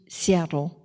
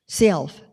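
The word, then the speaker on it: Sealth: So all things again cheap Seattle and that's not how it's pronounced. How is it pronounced? Seelf I don't know why but chief Self he knows because he's from that area.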